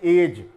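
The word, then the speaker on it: edge: इसी तरह से एज, जो भी कोई किनारा होता है वो उसके लिए हम वर्ड का यूज़ करते हैं, तो यहाँ पर भी ये जो वर्ड है डी हमारा यहाँ पर साइलेंट हुआ।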